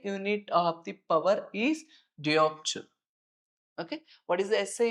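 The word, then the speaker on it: dioptre: So the unit SI unit remember the SI unit of the power is diopture. Okay. What is the SI unit? Pronounce with me. Diopture.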